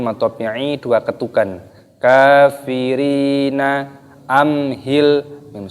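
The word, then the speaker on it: أمهلهم: ini dua ketukan kafirina amhilhum sukun bertemu dengan huruf ha itu dibaca izhar syafawi jadi cara membacanya tidak boleh kita mendengungkan harus dibaca jelas amhilhum tidak boleh kita baca ampe tidak boleh amhilhum lainnya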